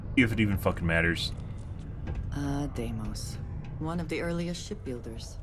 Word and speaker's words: Deimos: Stanley McMillan's computer in the Deimos Star Yard's corporate office. That's how you pronounce it. I've been saying it wrong this whole time. If it even fucking matters. Deimos.